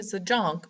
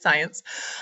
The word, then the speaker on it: Zajonc: zence um that is how his name is pronounced uh it looks like it should be should be Z Jun but it's not it's science uh and so Robert zence um contends that